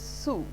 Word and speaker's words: sou: earn every soul every su s oru is sue so how this print pronounced in the french so you can see